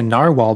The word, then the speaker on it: narwhal: walruses narwhals whales if you haven't seen a narwhal before I encourage you to look it up it's spelled n-a-r-w-h-a-l narwhal very interesting animal and ah